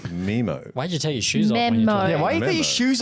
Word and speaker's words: Nemo: I've got to talk fucking cool and hip Memo, like you motherfuckers. twat. It's memo. Memo. No one says memo. Me- Finding Memo. It's the fucking... What is rhymes with happening? Nemo.